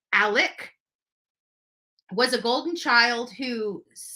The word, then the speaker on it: Alec: years gone literally gone Alex burn Alec pronounced Alec was a golden child